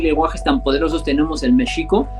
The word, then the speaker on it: México: Imagínate qué lenguajes tan poderosos tenemos el mexico, porque así se debe pronunciar México, que estamos comiéndonos los mocos hablando español nada más.